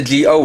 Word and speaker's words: Zi-O: geo and that's because that's how it's pronounced in japanese and the reason why